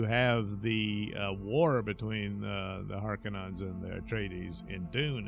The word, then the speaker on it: Harkonnen: So we learn about her past and the animosity between the families of the Harkonnens.